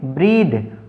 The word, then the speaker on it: breathe: अगर BREATHE, अब हमने TH के साथ ई जोड़ा है तो ये बन गया एक वर्ब और इसका उच्चारण क्या हुआ, द की तरह होगा, BREATHE, इसको पढ़ेंगे ब्रीद।